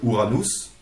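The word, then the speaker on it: ウラノス: j'attends juste des noëls ouranos écrit uranus en japonais mais qui se prononce ouranos en japonais c'est à dire qui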